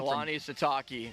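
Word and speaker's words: Kalani Sitake: Is it Kehlani Sitake? Is that how you pronounce his last name? Keani Satakei.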